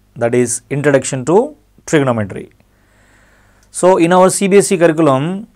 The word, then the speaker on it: trigonometry: So this word trigonometry, T-R-I-G-O-N-O-M-E-T-R-Y, trigonometry. We should pronounce this as trigonometry, but not trigonometry, right?